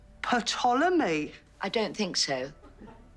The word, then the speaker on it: Ptolemy: The P is silent, as in psychopath, Sharon. Why is it silent? But it's from the ancient Greek.